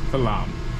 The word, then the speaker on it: Flanm: Falam. I was trying to spell it.